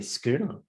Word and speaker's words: schooner: It's actually spelled phonetically, schooner, without the H. Exactly. It's a silent H.